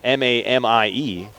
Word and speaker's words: Mamie: You spell it M-A-M-I-E, but again, pronounced Mamie. Amy like Jamie.